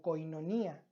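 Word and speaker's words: κοινωνία: unidad la unidad que en griego se pronuncia como koinonía significa una Unión tan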